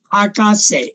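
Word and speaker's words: 博士: 是博士，它的念法比较特殊，因为博这个本来是念成 Haku，但是在地名跟博士这两个字念成 Haka，要注意 Haka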